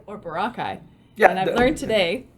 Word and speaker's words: Boracay: Yeah, the foreigners would often read it exactly the way it was written. So it's Boracay, but the locals would call it Boracay.